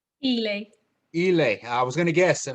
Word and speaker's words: Eley: a living victoria victoria how do you say your last name i apologize victoria elay i was gonna guess